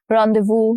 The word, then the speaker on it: rendezvous: Rendezvous, again, S, letter S is silent here.